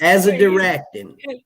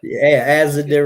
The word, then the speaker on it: azadirachtin: Probably I can't pronounce it either." He wasn't doing that. It's azadirachtin.